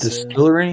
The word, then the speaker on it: DSTLRY: That's what this Distillery? Is. Yeah, it's spelled DSTLRY.